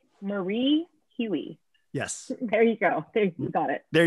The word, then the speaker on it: Marie Hui: last name correct get it right people it's marie huey yes there you go there you got it